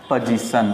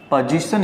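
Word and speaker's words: position: हैं तो इस तरह तो आपने देखा इसे पोजीशन कहते हैं नॉट पॉजिशन करना ऑफिस पोजीशन उसका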